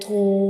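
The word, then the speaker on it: طاء: When we read tho, the sound remains into the mouth, it doesn't spills out. We read it with heavy sound like tho.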